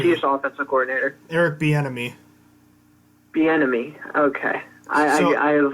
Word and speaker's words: Bieniemy: It's like I just think of enemy and B beforehand, just like the letter B and enemy. Bieniemy.